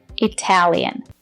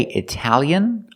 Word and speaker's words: Italian: is correct for example Italian that's right you can say Italian or Italian if you slow it down you can say Italian Italian but if you say it fast you say Italian where's the Italian since